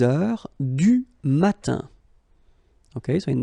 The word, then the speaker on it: heure: Il est 6 heures. All right, so heure, you write it like that. Remember, H is not pronounced, okay?